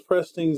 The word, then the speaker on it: pristine: Her username is Pristine Zebra. I'm pretty sure it's a female. That's not a safe assumption. Pristine Zebra. It's pristine. It's spelled just like Christine.